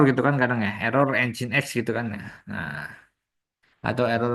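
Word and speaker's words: nginx: apa ini engine X Pak engine X bukan ngx ya bacanya n ini jin ini x engine X Ini fungsinya untuk apa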